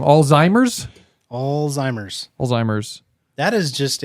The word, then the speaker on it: Alzheimer's: headline right now um reduce Oldtimer or Alzheimer's yeah I know I said it wrong Alzheimer's Alzheimer's Alzheimer's that is